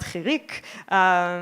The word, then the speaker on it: chirik: It's called chirik, which sounds like the word for insect in Hebrew. It's a very high, sharp sound.